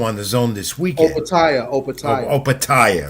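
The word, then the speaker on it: Opetaia: I want Joe Apatia is cruiserweight title defense also on the zone this weekend. Opatia, right.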